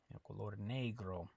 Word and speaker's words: negro: say black in Spanish negro okay uh the E I don't think we talked about this yet but the E always makes an a sound in Spanish so it's Negro okay it's not negro